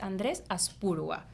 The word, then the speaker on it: Andrés Aspurua: que es la tecnología, y ese invitado es Andrés Aspurua. ¿Lo pronuncio bien?